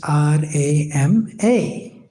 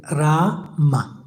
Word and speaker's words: Rama: Upper and lower lips must move, Rama. ऊपर का ओठ और नीचे का ओठ मूव करता है राम। So it's not Ram. तो ये राम नहीं है, It must be Rama.